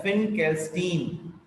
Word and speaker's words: Finkelstein: फिन, इसमें आई का जो प्रोनाउंसिएशन है वो ज्यादा तेजी से हो रहा है, फिनकेल्स्टीन।